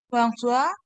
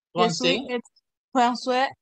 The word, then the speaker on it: français: Je suis François. Français. Je suis estudiante. Ok, français, porque la A y la I se pronuncian como una E.